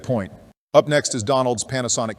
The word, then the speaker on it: Panasonic: Up next is Donald's Panasonic Q. By the way, when getting things together for this video, I realized we mistakenly called it Parasonic, so shame on Donald for mispronouncing it.